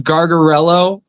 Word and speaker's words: Gargarello: Um, not that you know, I guess I'll spell it for you. My last name is Garello.